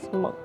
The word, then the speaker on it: Munch: So, the building over there is the Munch. It spells like Munch, but it's pronounced as Munch.